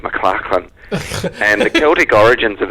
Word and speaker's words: McLachlan: mind that you know back in Scotland the spelling m c a c h l a n is pronounced mclarin and the Celtic origins